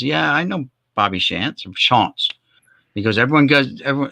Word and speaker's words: Shantz: And he says, yeah, his real name is Shantz.